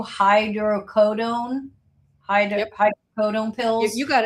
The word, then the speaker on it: hydrocodone: I don't know how to pronounce these pills. 2 hydrocodone Yep.